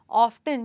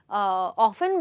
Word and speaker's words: often: गलत बोला, अभी तूने ऑफ्टन यानी अक्सर को तूने ऑफन बोला, या बोलते हैं लोग ऑफन को तूने ऑफ्टन बोला, गलत है। लेकिन गलत नहीं है, ऑफन ऑफन और अमेरिकन इंग्लिश में भी सेम स्पेलिंग है, फ़र्क बस इतना है कि इसमें ट पे स्ट्रेस किया जाता है और इसमें ट पे स्ट्रेस नहीं किया जाता, ठीक है।